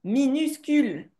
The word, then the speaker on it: minuscule: mini, je suis d'accord, mais ça se dit minuscule. Mini. Minuscule. OK? J'entends mini. Bah, peut-être que j'ai pas bien prononcé, mais dans tous les cas, tu dois l'apprendre que c'est pas minuscule, mais c'est bien minuscule.